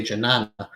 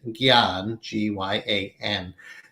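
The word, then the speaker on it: jnana: called in sanskrit gyan in the west often spelled j-n-a-a which makes you want to say janana but the proper transliteration pronunciation is gian so i'll introduce you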